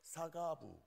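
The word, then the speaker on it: שגב: 사가부, 싸가지 이렇게 발음하고 싶어서 힘을 주면 좀 그렇습니다만은 앞에는 싸도 아니고 사도 아니고 중간쯤 발음에 사가부 이렇게.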